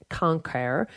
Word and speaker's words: cancer: The English word cancer was borrowed straight from Latin cancer, which would have been pronounced cancer, meaning crab.